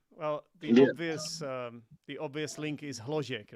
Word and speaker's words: Hložek: Well, the obvious link is Hložek, right? So that we've been banging on about this for a long time. So today, Sorry, could you pronounce his name again for me, please? Hložek.